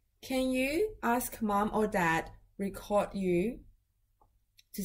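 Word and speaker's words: 大: It is da.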